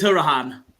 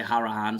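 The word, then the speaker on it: Hourihane: Here's Hurahan. Actually, I pronounced it wrong there. I just heard the commentator say Harahan, so I guess that makes he's sense.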